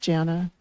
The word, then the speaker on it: Jana: I'm just everybody, I had somebody call me Yana the other day, but it's just Jana.